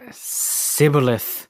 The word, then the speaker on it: Shibboleth: They pronounced the SH sound as just an S sound. Shibboleth.